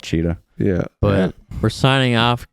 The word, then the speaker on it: Tschida: It's spelled TSCHIDA. Yeah, we'll put that in the bio for you. Yeah, it's a little funky, but just call it Cheetah.